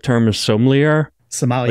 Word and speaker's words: sommelier: I don't know, but it's sommelier. So that's how you pronounce it.